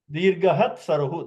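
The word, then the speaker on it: दीर्घः त्सरुः: Dirgahat saruhu. That is how you have to pronounce. Because otherwise, what we'll do? Because after the visarga, next is takara. Your tendency is to make visarga into sakara, right? So that should not be made.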